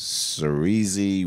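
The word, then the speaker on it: Saoirse: But, yeah, the main character, her name is, I don't even know how to say this, but it's Cerise Ronan.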